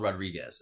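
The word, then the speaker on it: Rodrigues: That's called Rodriguez. That's what it's called today, and that's how I pronounce it as an Anglo.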